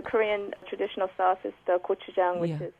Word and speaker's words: gochujang: If you like spicy, the Korean traditional sauce is the gochujang, which is it's a pepper paste.